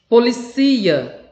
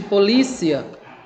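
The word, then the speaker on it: policía: a sílaba tônica né policia é diferente de polícia que no português a nossa a nossa língua materna né nossa língua-mãe a sílaba tônica eu li no espanhol eu cia policia oxigênio olha que legal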